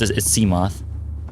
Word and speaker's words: Seamoth: guys my seamoth or seamuth i kind of like to say seamuth because it reminds me of behemoth seemeth the behemoth seemeth but it's seamoth it's spelt exactly as you'd expect c-s-e-a m-o-t-h seamoth here's